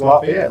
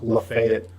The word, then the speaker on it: Lafayette: It's pronounced Lafayette, Louisiana, or whatever, but the one in Georgia is pronounced Lafayette.